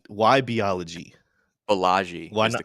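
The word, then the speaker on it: Balaji: uh I always love your your how you pronounce his name say it one more time what's his name beology shoson biology why biology bellagi is the correct pronation why not bag anyway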